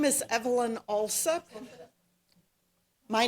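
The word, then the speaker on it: Alsup: Evelyn also My name is Evelyn Alup. My name is Evelyn Alup. That is spelled A L S U P.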